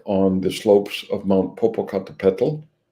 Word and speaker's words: Popocatépetl: So Xochipilli was dug up on the slopes of Mount Popocatépetl, spelled like it sounds, second highest volcano in Mexico, home to an indigenous variety of mushroom that's found on the slopes of the volcano.